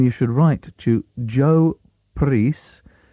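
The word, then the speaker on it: Prhys: If you want to actually obtain a copy of it, then you should write to Joe Preece. That surname is spelt P-R-H-Y-S, and I assume it's pronounced Preece, at the Cornish class, the City Literary Institute, Stukely Street, London, WC2.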